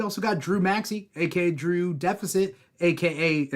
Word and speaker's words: Drew X Deficit: Drew Deficit, a.k.a. it's spelled Drew X Deficit, but the X is silent.